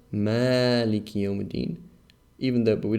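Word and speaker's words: مَالِكِ: be malik manic so here this is pronounced ma long even though principle should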